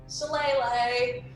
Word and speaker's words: Shillelagh: Shillelagh. Okay. Get so that shillelagh.